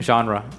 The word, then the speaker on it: genre: Okay, I mean, genre is another one that I keep bringing up. Right. Genre is a French word. Genre.